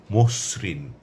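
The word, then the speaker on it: মসৃণ: যেমন মসরিন এখানে দৃশ্যত কোন ওকার নেই কিন্তু উচ্চারণের সময় মসরিন ওকার আসবে একইভাবে কর্তৃকারক বক্তৃতা যকৃত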